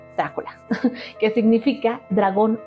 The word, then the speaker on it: Drácula: entregarlo honorífico o Drácula Así es como se pronuncia Drácula que significa dragón o esto depende mucho del